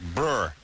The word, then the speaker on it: Breuer: And I say Breuer, but is it like Breuer? Breuer. Breuer. Breuer. Yeah, because it's not normally, it's not spelled how a Breuer is spelled, but it's like Breuer. It's Breuer.